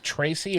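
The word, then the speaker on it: Trese: Netflix it's a um Tracy or it's t r s e okay and it's pronounced Tracy uh it's the last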